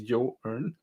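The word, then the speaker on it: Joern: happens to to this and and that's what yawn allows you to do it's pronounced as you earn it's a good way to remember how to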